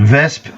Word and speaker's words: Wespe: is the German vesp and vesp is the correct pronunciation tier three same business